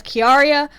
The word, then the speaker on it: Chiara: because of key Aria which he had put the pronunciation as key Aria but it looks like Chiara for me because you know it's